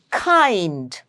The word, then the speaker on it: kind: And kind, kind, K-A-I-N-D. That's how we are pronouncing it. There's a hidden diphthong sound, A-I, kind. So that's a long vowel sound.